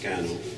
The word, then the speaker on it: Skä·noñh: It's just pronounced Scano in Onondaga.